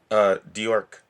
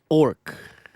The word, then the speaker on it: D'Orc: So it's pronounced orc. All right. There's an apostrophe after the D, and the D is silent.